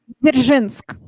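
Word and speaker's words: Дзержинск: Dzержinsk. Dzержinsk? Dzержinsk. Oh, Dzержinsk. Dzержinsk. Yeah, with a D-Z-E-Z-H-I-N-S-K. Okay, Dzержinsk. Okay, Maria, it's pronounced misery.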